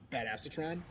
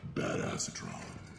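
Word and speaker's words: Badassatron: floating right now is bad acetron which is actually pronounced bad asron o bad acetron is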